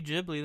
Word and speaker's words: Ghibli: Ghibli so I'm like alright cool must be Ghibli then I must be an uncultured swine and